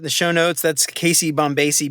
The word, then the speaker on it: Bombacie: all that in the show notes that's Casey bombasi b o b o m b a c IE correct I was I was pronouncing it incorrectly until we actually had a